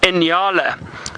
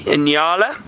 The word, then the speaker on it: nyala: same species of antelope, and those are called Nyalas. Very funny name. It's spelled N-Y-A-L-A, Nyalas.